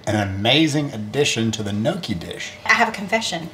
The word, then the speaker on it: gnocchi: Gnocchi sounds like gnocchi. Got to get that Y sound in there.